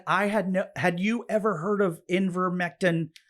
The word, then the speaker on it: ivermectin: Ivermectin? Yeah, ivermectin, yeah.